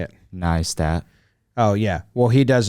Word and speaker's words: Neistat: Neistat.